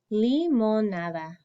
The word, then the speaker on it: limonada: Limonada. Limonada. Limonada. Limonada. Okay, try that one. Okay, limonada. Li, that makes the E sound. Mon, nada. So you've got the E, the O, and the A sound in there.